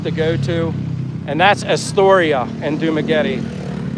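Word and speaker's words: Esturya: I always say the same restaurant all the time, my favorite restaurant to go to, and that's Astoria in Dumaguete. It's spelled E-S-T-U-R-Y-A, Astoria.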